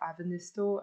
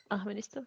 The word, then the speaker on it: Ahvenisto: When you look for Finnish tracks, you need to look like Avenisto and Ahvenisto? Ahvenisto? Ahvenisto, yeah. Okay. Yeah, the H is a bit more.